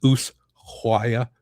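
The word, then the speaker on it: Ushuaia: So usuaya is the capital of tiar del fuego. So this is where the cruise ship was. That's how you say it by the way.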